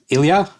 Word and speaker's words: Ilja: Uh and today we also have a guest, Ilia. I think that's how you pronounce it. Yeah. Right. Exactly. 100%. Perfect. I I did it. Great. So, Ilia, you are a spelt developer or a developer